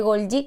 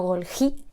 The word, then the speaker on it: Golgi: Dentro de los membranosos tenemos las mitocondrias, el retículo endoplasmático, el aparato de Golgi, que no Golgi, Golgi, porque era un señor italiano y se pronuncia así, y los lisosomas y las vesículas.